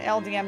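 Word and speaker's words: Eldieme: LDM Necropolis or LD is it is it LDM or LDM Necropolis? I've never been able to figure that out. I've been pronouncing so many things in this game wrong for so many years, but who cares? It's LD Necropolis.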